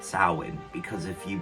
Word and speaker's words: Samhain: Pronounced Samhain, because if you pronounce it Samhain, you're talking about the band that Glenn Danzig went to start after he left the Misfits.